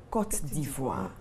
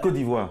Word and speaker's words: Côte d'Ivoire: Oui, la Côte d'Ivoire. Côte d'Ivoire. La Côte d'Ivoire, non. Je vous en prie, chers téléspectateurs. C'est la Côte d'Ivoire. Et la phonétique s'écrit avec un K-O-T.